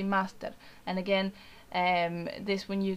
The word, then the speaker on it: master: You know, it's the English word, but with an Argentinian pronunciation. So you would just say master.